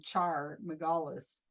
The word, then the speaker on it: Char Margolis: Well, they had a psychic on, Char Margolis, that's how you say her name, about 12 years ago.